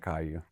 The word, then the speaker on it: Kajuch: said this is Caillou and so you is that is it Slovak it's Slovak the J is pronounced like a y my sister's name is